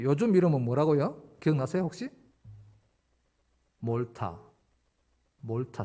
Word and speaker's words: 몰타: 몰타 몰타 슴 입니다 뭐 저 영어 저 영국식 발음을 한번 말타 말투 한번 그렇게 말을 말을 타는 질문 좀 말도 말과 몰고 중간에 정도로 정확히 그냥 그 정도 발음 이라 생각하시면 됩니다 뭘 탐험 월터 뭐